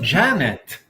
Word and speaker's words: genet: I thought I will at least try and pronounce this properly for the show. I was expecting something about that. It's just Janet.